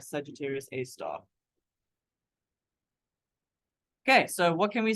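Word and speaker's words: Sagittarius A*: A star and we've we always put the asterisk there and you pronounce that star this is that Sagittarius A star okay so what can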